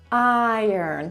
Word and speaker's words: iron: Iron, tylko musimy właśnie to dobrze też zaakcentować.